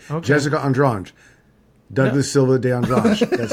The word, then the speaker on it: Andrade: Andrade. Where do you get the G? It's Andrange. How you pronounce it? Okay. Jessica Andrange.